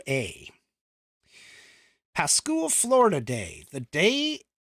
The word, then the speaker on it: Pascua: And I'm not even sure I'm pronouncing that right. It's Pascua.